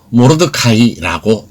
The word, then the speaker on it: Mordecai: 모르드게는 영어로 MORDECAI이며 우리말로 모르드카이라고 발음합니다. 마르둑 아이와 비슷합니다.